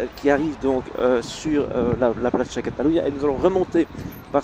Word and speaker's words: Plaça Catalunya: Donc ça c'est écrit C-D, et ça se prononce Plaça Catalunya.